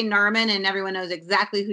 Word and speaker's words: Narmin: my name either, so I have to like always say Carmen, but with an N. Narmin. But you know what though? You're kind of like a Cher. You can just say Narmin, and everyone knows exactly who you are.